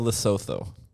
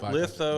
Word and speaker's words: Lesotho: It's like, man, what's your How do you spell it? Litho. Lesotho, Lesotho.